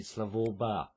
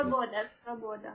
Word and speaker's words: Svoboda: leader of the neo-Nazi Slavoba party. I may have pronounced that incorrectly. Svoboda.